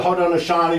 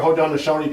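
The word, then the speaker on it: Haudenosaunee: It's you can pronounce prunctuate a few different ways, but that's it's could be the Hodon Shani or Hodonosi Confederacy made up of of uh six nations.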